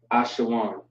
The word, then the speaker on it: Ashawan: We have a W and we have a N connected together. So WAN, Ashawan. All right, Ashawan.